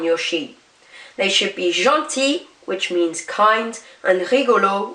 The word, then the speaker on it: gentil: Gentil is pronounced the same, whereas rigolo now becomes rigolote.